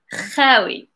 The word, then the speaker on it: خاوي: I was like writing it and I was like, oh, someone is going to pronounce it like incorrect. So yes, make sure to say خاوي. خاوي.